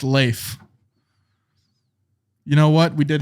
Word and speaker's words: Leif: said leaf i said leaf erickson it's lazy yeah so apparently uh it's pronounced leaf leif l-e-y-f is how he gave me the pronunciation spelling uh but thank you